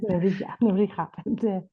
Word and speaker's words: Nebrija: Did I pronounce that correctly? Nebrija? Yeah, Nebrija.